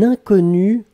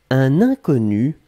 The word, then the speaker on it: inconnu: Alors, faites attention avec le premier mot, puisqu'effectivement, inconnu, on peut le prononcer de la même façon au masculin et au féminin.